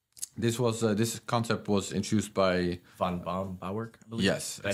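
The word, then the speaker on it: Böhm-Bawerk: This concept was introduced by Von Baumbauerk, I believe.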